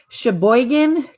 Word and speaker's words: Sheboygan: and correct me if i say it wrong sheboygan county correct you said it correctly and that